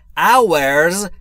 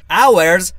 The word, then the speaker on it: hours: میشه 24 یعنی ۲۴ اورز یعنی ساعت‌ها همون طور که گفتیم تلفظش اور نیست اچش خونده نمیشه اورز یعنی ساعتها یعنی یک روز ۲۴ ساعت داره 24 بسیار خب دوستان به تمرین رسیدیم.